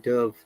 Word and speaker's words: dove: If dove is a noun, we say dov, dove. It's not dove when it's noun. What the bird? Dove. But if it is the verb, the past tense of dove, dive, dove, which is dive, R sound again, dove, dove, when it's a verb.